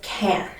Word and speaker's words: can: to note here is the pronunciation of can so in a sentence with the word can we don't emphasize can i would say i